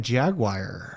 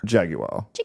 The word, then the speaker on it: Jaguar: Speaking of Jaguar. Jaguar. Jaguar. You have to say it like you have money.